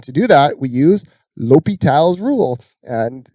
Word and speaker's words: L'Hôpital: do that we use l'hopital's Rule and the H is silent sometimes there's an S that's silent as well it's not in the hospital's rule lopi tells rule so lopital's rule says just like